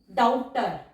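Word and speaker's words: doubter: डाउटर, डाउटर, टर आ गया हमारा, बी हमारा साइलेंट है, डी स्ट्रोक को हमने डबल किया, डी के बाद डिप्थोंग साउंड ओ डब्ल्यू।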